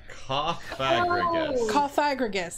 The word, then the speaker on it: Cofagrigus: Jesus coffing Gus I think is the cagus cofagrigus that's what it is oh the Pokemon the